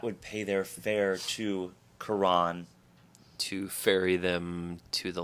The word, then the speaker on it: Charon: if you're talking about the Greek deity it's pronounced Quran Pluto also has a moon of the same spelling slash name but the moon is pronounced sure on Israel it appears that when we were struggling